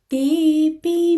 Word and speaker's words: तेऽपि: हैं ते और अपी, लेकिन बोलते समय एग्जैक्टली वही बोलना है जो लिखा है। तो ते का जैसा उच्चारण करते हैं, दीर्घ ये है स्वर, तो इसको वैसा उच्चारण करके फिर सीधा पी बोलना है।